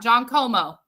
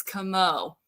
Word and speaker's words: Como: It's not John Como, guys. If you've been saying John Como, then you're putting the emphasis on the wrong syllable. It's Como.